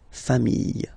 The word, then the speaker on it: familles: S, and you get the plural form, les familles, okay, remember, chien, singular form, chien, same pronunciation, but you put this S, okay, final